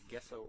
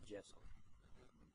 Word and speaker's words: gesso: But there's stuff, and it's called, depends on your background, it's called either gesso or gesso. I think the proper pronunciation is gesso, right?